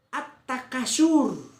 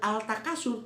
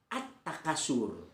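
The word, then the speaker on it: التكاثر: terbaca sebentar contohnya begini at-takasur ad-dhuha pada muridnya a aa kasur tidak dibaca dengan Al Takasur tapi dibacanya at-takasur jadi alif lam digolongkan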